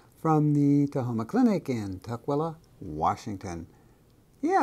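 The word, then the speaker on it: Tukwila: of Michigan anyway from the TOA Clinic In Tua Washington yeah it's a strange name it's spelled t k w l a Washington and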